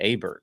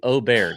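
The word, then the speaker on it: Åberg: last year, and they pronounced his name, the member starter at Augusta, Ludwig Aberg, which is improper pronunciation. And I was like, wait a minute, what is Augusta doing? It's Ludwig Oberg is what he said.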